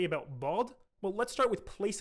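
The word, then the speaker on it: ض: He writes instead that bod is pronounced, quote, between the first part of the side of the tongue and the adjacent molars.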